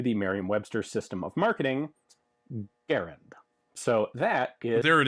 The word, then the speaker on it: Garand: a great one um so I always make sure to say Garand instead of grand although I grew up